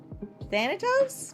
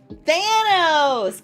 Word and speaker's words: Thanos: Thanatos? No. Gwynbez. Thanos! God, I put an extra syllable in his name.